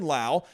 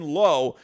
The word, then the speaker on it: Lowe: down year last year i love brandon lau i am so glad i am coming into this season knowing how to pronounce this guy's name i was calling him brandon lowe and i was getting so much crap from everyone last year brandon lau i